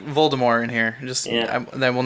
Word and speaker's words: Voldemort: Did you say Voldemort? There's a T at the end. No, it's French. There's no T. I mean, there is a T, but it's not pronounced.